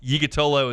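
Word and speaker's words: Yiğitoğlu: It's hard to pronounce, but Yigatolo is what it says on the pronunciation guide.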